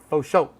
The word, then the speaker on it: for sure: And this is faux show.